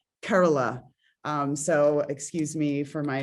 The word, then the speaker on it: Kerala: Kerala is not the correct pronunciation. It's like Kerala.